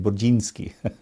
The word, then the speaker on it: Burzynski: Burzynski from Texas. Actually, in Polish, you would say his name Burzynski, but that's how I always thought it.